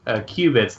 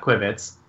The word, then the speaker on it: qubits: I can explain in general, starting with, although I prefer your pronunciation, Sean, they're pronounced qubits, not quibits.